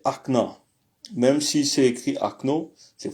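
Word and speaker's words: окна: L'exemple qu'on a c'est Ak devient acna. Au fait acno est prononcé akna.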